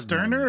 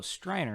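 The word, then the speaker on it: Streiner: Sterner or is it Striner? Oh, Striner.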